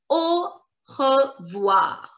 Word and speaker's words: au revoir: and we pronounce it au revoir. Au revoir. Au revoir. Au revoir. Au revoir. Understand the pronunciation. The sound of AU is like O in English.